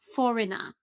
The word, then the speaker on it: foreigner: But this is actually foreigner. Foreigner. And of course, pay attention. I'm not pronouncing this r at the end because I have this British pronunciation.